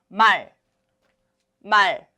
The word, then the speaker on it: 말: Remember, do not release the air. 말.